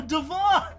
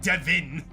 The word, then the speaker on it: Devon: but his name is also Devon. Oh man, that was so lit. I was like, finally, someone that pronounces their name correctly, not Devin.